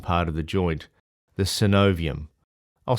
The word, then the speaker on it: synovium: third really important part of the joint the synovium I'll spell it for you s y n o v